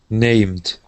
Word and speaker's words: named: practice this one here it ends with an m and the word is named named okay give me a D sound you gave me a t we want named named okay all right so